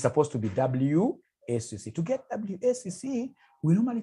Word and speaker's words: WACC: There is somebody who pronounced this as wakaka. Wakaka, no. It's supposed to be WACC.